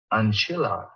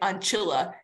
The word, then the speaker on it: ancilla: while you say it, looks like it's not written as a long vowel, but that syllable is still getting stressed. Like everyone, like they are saying it Ancilla, not Ancilla still.